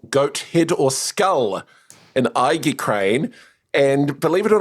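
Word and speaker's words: aegicrane: exactly how you say it, but it's I crane. So, a E G I C R A N E. That's a classical ornament of a ram or goat head or skull in I crane.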